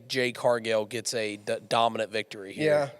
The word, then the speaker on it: Jade Cargill: So the last matchup we're going to look at in this segment, correct me if I'm wrong on the name pronunciation, Jade Cargill?